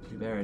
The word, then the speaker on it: Hubert: Alright, well, I'm gonna go and turn in this quest to Hubert, or Hubert. It's spelled Hubert, but I've heard Hawke call him Hubert. So, Hubert it is.